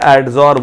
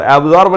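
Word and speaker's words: adsorb: Catalyst के surface पे एडजॉर्ब होता है। क्या होता है बच्चों, ध्यान से सुनो, रिएक्टेंट कैटलिस्ट के सरफेस पे एडजॉर्ब, एब्जॉर्ब नहीं बोल रहा हूं, एडजॉर्ब, एडीएस एडजॉर्ब, स्पेलिंग लिख देता हूं मैं, एडजॉर्ब।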